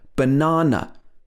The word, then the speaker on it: banana: much in this word banana the a letter a is being pronounced like uh but the second a is ah ah banana because we stress the na in this word it's not like in